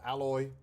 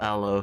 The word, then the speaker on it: aloe: Let's start with the alloy yogurt drink. Ew. Oh. Oh, it isn't. You see? I hate anything that's got like aloe in it. Alo. Aloe.